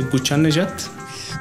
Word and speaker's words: Ghoochannejhad: And let's end it off with Reza Ghoochannejhad. I think that you said it very correct. It's a Ghoochannejhad.